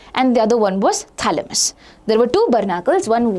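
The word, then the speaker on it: Chthamalus: So initially you had the phalamus and thalamus basically it's spelled like this c t h a l m a s m u s. So there's a c which is silent always remember that.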